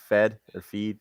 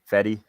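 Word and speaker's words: Fedde: Saturday, during the day, you got Gibson versus Feed, however you say his name. Fetty? Right. Fetty.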